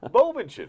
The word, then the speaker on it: Bovenschen: Bovenschen.